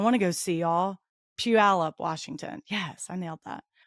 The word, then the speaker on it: Puyallup: When I'm not listening to PATW, I'm slanging shears at Style Bar Salon and Puyallup. Did I say it right? Yeah, now that Puyallup, Washington, or jamming out with my cover band 90s Rewind.